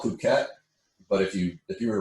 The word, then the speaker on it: Phuket: it like an American, it looks like Phuket. You can say it in your own head. That's how I said it. But Albright said it's Phuket. I was like, yeah, the H is silent.